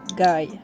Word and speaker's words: Guy: Creepy guy. Je m'appelle Creepy Guy. Creepy guy. Non, non, non, non, on va le prononcer à la française, mon gars.